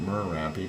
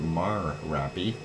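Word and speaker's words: Marapi: going up here keny and Mary not Mery but Mary uh making of that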